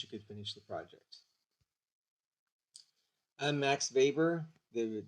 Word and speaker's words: Weber: Max Weber, the W is pronounced with it as a B.